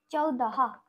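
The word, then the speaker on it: चौदह: 14টা আমরা লিখবো চয় ওকার দ আর হ, চৌদাহা, চৌদাহা।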